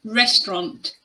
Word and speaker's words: restaurant: The next word is restaurant. Restaurant. If you want to pronounce this word with a British accent, you need to make sure you use the O sound in the final syllable.